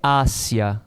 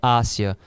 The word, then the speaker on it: hacia: É acentuado, a pronúncia é diferente. Aqui eu pronuncio hacía, aqui é hacia, a preposição é hacia. O verbo aqui é hacía.